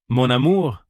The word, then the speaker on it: mon amour: In French, it is mon amour.